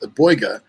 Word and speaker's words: Boiga: I Boiga, know, boiga. It's just different emphasis on a different syllable.